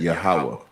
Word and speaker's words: Yahweh: That like the Tetragrammaton, the YHWH, we pronounce that Yahweh.